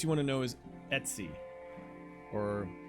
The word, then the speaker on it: Etsy: know is Etsy or I always say Etc because it's Etc and I don't see how you can't pronounce that as Etc but every call everybody else calls it Etsy but it's ice call it Etc um as I've said